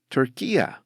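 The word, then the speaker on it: Türkiye: understandably speak Turkish and they don't call their country Turkey they call it turkia at the time of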